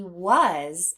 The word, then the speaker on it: was: to fingert those sounds the first sound W the next sound uh the last sound z w was let's do it again w z was there are three sounds in the word was now let's focus on